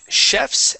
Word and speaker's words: chef: Let's try out chefs and butlers. So chef in English is pronounced with an SH sound.